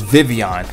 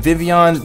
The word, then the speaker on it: Vivillon: So coming in at number 10 on my top 10 list is Vivillon. And first of all, it is pronounced Vivillon and not Vivillon.